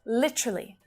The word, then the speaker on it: literally: So you'll hear literally with that flap T sound, right? It sounds more like a D.